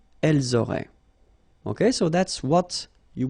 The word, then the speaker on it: auraient: And then look, if you've got A-I-E-N-T, then phonetically it goes like aurait.